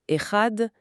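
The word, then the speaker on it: אחד: Au lieu d'un geste mécanique, on peut y mettre une conscience en prononçant le mot erad et en prolongeant volontairement la prononciation du son final dad comme la tradition nous y invite.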